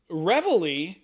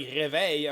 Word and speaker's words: reveille: I'm French, so I'm like, I was like, réveil. I'm like, no, it's the reveille.